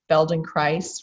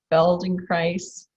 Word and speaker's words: Feldenkrais: And so a number of people have referred me to the Feldenkrais Method. Feldenkrais rhymes with paradise, for those of you